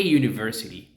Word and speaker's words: university: that a university okay notice that you it's not U it's you IM then we have